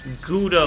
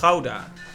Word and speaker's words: Gouda: at a burner though only anglophones really call it gouda so it hurt a little bit to say it like that gouda even though it's houda all right and there's